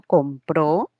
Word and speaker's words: compró: Pero si digo compró, la mayor fuerza de voz ya se produce en la última, lo que claramente evidencia